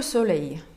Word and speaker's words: soleil: Attaquer le soleil, Marquise de Sade. Le soleil вы часто встретите в названиях, например, у Лалик. Вот это самое «e» и «l» читается как «е». Soleil.